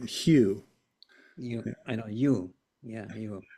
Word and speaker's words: Hugh: Well, just think of the color hue.